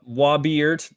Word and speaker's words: Wobeeyert: Currently, right now, Wobeeyert. That's spelled how it sounds, which Wobeeyert.